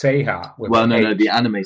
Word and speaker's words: SeHa: say it's it's pronounced seha well no no the anime series is say and that's short for se Sega the SE from Sega and the ha from hard girls the anime is called